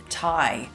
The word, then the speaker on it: Tighe: So today I have managed to second from way down south the very effervescent and extremely intelligent Steve Tighe. Steve has a silent G in his name, by the way, so